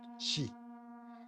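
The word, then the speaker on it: 四: the tends in Japanese the number four is pronounced she which is the same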